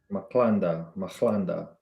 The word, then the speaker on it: Madlanga: Madlanga. MAD Madlanga Commission.